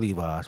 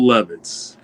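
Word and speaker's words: Levis: He got folded like a pair of Levi's, bro. That was crazy. His name is Will Levitz. And you said Levi.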